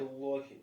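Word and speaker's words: بيت الله: Байтуллахи. Ахсан. Байтуллах. Почему лям грубо произносится? Потому что до него замма идет, да?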